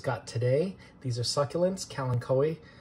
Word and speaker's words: Kalanchoe: These are succulents, Kalanchoe, fedtschenkoi, I believe that's how you say it.